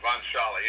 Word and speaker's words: von Sholly: Yeah, von Sholly. It's pronounced the way it looks.